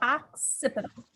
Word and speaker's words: occipital: So you can say it like an ox, like an animal, occipital.